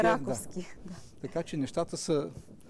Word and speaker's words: Раковски: Да, интересно обаче защо ударението ни е оправим Раковски, а то трябва да е Раковски.